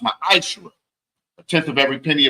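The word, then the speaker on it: מַעֲשֵׂר: Means tenth in the Hebrew and is pronounced ma'ashra.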